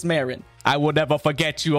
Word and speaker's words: Marin: all text all right I've always called her Marin so I don't know if there's a debate on how people pronounce that or if I'm going to get roasted but it's Marin I will never forget